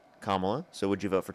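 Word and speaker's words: Kamala: Definitely wouldn't vote for Camela. Kamla. So, would you vote for Trump? That's why I said Camila. Kamla. You can say Harris if you can't pronounce her name correctly.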